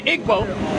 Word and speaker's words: Igbo: Nigeria sir those people that we call the ego or the Igbo or the it vote depending on how people like to pronounce this stuff those people are Egyptians that